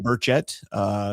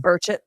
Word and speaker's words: Burchett: So the accent on the second syllable? Yes.